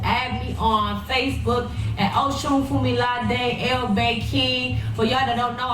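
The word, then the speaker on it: Osunfumilade: But yeah, so Oshun Fumilade is spelled OSUNFUMILADAI.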